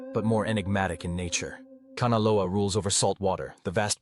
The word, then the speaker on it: Kanaloa: Kanalo a pronounced Kahnalo aa is the god of the deep ocean, the currents and the hidden realms.